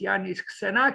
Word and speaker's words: Iannis: let's read Janice senakis also spelled with a Y um pronounced yes yanis as you see born